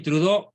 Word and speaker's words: Trudeau: francés pero digamos castellanizado Justin trudeau con doble es el diptongo francés más frecuente true de audó se pronuncia Justin trudó una tremenda amenaza desde